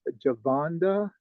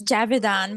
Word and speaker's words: Javidan: I'm familiar with everyone except, let's see, is it pronounced Javonda? I just want to make sure I pronounced the name correctly. Hi, it's Javidan, but everyone calls me Java.